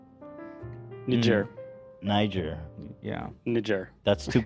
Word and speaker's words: Niger: It's supposed to be pronounced with a J, I think.